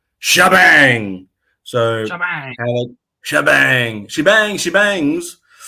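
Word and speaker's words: T'Jbang: his name I would say his name as TJ bang because it's t apostrophe J Bang but apparently according to the commercial is pronounced shabang so shabang shabang shebang shebangs oh baby but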